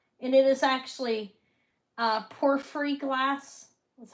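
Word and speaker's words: porphyry: Look, this is um this is West Germany and it is actually uh porefree glass is how they pronounce it.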